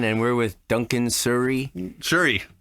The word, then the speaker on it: Shury: Shury. Shury. Okay, it is spelled like S-U though, right? S-H. Yeah, oh, it is? Okay, yeah. for some reason okay, good, Yeah. good. It's like the microphones, sure.